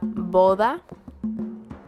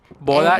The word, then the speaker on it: boda: We have boda. Boda, and- just boda. Boda. B-O-D-A, boda. B-O-D-A. Boda.